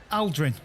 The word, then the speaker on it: Aldrin: Buzz Aldrin. Is that how you pronounce his surname?